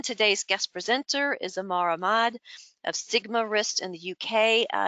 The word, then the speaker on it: Ahmad: live today's guest presenter is amaramad am i pronounced ahmad am i pronouncing that correct good okay of